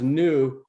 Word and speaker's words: Neu: a play on words the Neu you know pronounced new but it's a play on the word neurology and neurons because it